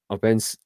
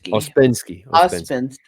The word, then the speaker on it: Ouspensky: We went into that, and we also talked about Opensky. How do you say it? Ouspensky, yeah. Ouspensky, thank you.